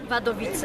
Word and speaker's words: Wadowice: É assim que se pronuncia? Wadowice.